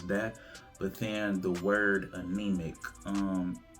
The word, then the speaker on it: AnemiQ: But so like anemic, we spell it with a Q instead of a C.